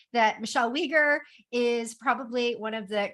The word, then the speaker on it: Weger: I called her Michelle Wagger. And Nibil was very quick to tell me it's Michelle Wager. It rhymes with eager. So, Michelle, Michelle Wager has never had a 9to-5.